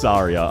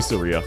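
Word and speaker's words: Saria: It's pronounced Sara. I just butcher it. I say Seria. I know I get it wrong.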